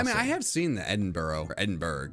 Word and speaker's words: Edinburgh: I mean, I have seen the Edinburgh. Or Edinburgh. It's Edinburgh, not Edinburgh. it's actually no.